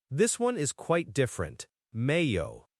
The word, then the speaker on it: Mayo: Mayo. M A Y O. Mayo. Mayo. Okay. So, the Y here is making a hu sound like yo. So, mayo. Kind of like mayonnaise without the inero.